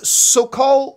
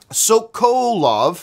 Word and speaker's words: Sokolove: comes to us from Dan Sokol well I always mispronounce his name Sokolove who writes do you